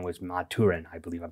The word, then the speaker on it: Maturin: I did not know the turtle's name was Maturin. I believe I'm pronouncing that correct.